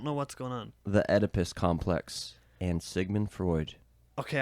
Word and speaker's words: Oedipus: So, The British pronunciation, Oedipus. That sounds like Oedipus. The American pronunciation, Oedipus. So go back. The English one sounds like it's saying eat a puss. And the American one sounds like et a puss.